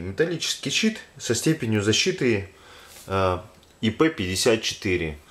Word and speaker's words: IP54: С виду это обычный металлический щит со степенью защиты IP54. Ну, кстати, исправлюсь, а то в прошлом видео все говорил по привычке ИП. Давайте буду говорить правильно, коль вам это как бы слух режет. Там IP54.